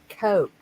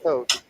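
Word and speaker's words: Koch: myself under the desk Coke right yeah they smell it like but it's pronounced like the drink Coke Vicky you work at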